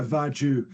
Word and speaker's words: Vargiu: amazing uh vaju how did I pronounce that perfect it's like you're Italian from sgia